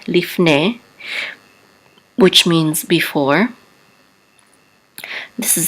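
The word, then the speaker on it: לפני: This is Lamed with a Hidik and a Fe. The Shava is silent. This is Lif. And this is a Nun with a Tzere and a Yud together we say Ne, Lifne, which means before.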